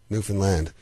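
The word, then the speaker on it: Newfoundland: the rhes are understand that's what we always say understand Newan land that's where we're from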